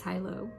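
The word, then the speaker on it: High Low: h-i-g-h underscore low l-o-w and so hi-lo which is my name my name is pronounced hilo so hi hello but i make it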